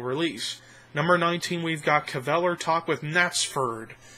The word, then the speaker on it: Kvelertak: Number 19, we've got Kvelertak with Natsford. I pronounced the name of the band right this time instead of Kvelertak, as I called them in the review.